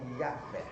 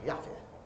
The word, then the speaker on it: Yahvé: Então essa pronúncia em hebraica, olha ali, Ud, Ré, Vá e Rei, que é mais ou menos, né, Yahvé. Então esse era o nome que os judeus pronunciavam, Yahvé.